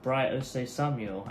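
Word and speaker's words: Bright Osayi-Samuel: Yeah, back again with Bright Ose Samuel.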